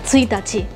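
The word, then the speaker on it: 一日: es como otra excepción, porque se dice tsuitachi. O sea, se escribe uno, sol, ¿no? O sea, se podría pronunciar, en chino se dice i, r, ¿no? Pero no, es como, es especial, es como totalmente distinto. O sea, ni siquiera es ka, no es hi, no es nichi, no es nada, sino que simplemente en esa combinación uno se tiene que acordar que se pronuncia distinto.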